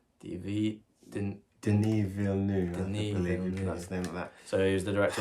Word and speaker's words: Denis Villeneuve: who was the director again how do you pronounce his name denis villeneux dv didn't denis villeneuve that's so he's the director of blade runner